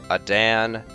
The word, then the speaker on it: Adan: heard it pronounced um a Dan Adan uh how else of course Aiden is the way I pronounce it um a Dan I've heard it pronounced like seven different ways and I don't even